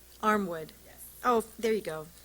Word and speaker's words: Armwood: Next, and I apologize if I get your name wrong, Armand? Did I say that right? Armwood.